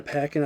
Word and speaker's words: Paquin: My only gripes about the movie that we didn't get to touch on is the werewolves, like Anna Paquin, I think it pronounced her Anna name.